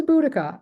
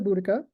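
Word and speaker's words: Boudica: up so this is budika some people spell it with only one C some people pronounce it differently her name differently but I call her buddika she was the wife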